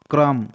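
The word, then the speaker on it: crumb: बच्चा मैं ना थंब थंब मतलब होता अंगूठा क्रम सी यू सी आर यू एम बी क्रम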